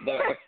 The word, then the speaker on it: Thurr: I want to say Thurr. Am I saying it right? Is it Thurr? There? Yeah, Thurr. Yeah, you said it right.